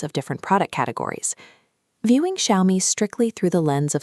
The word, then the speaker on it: Xiaomi: That parent is Xiaomi, pronounced Xiaomi.